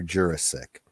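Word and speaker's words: Jurasik: I met Peter Jurassic his name is pronounced Peter Jurassic who played Londo in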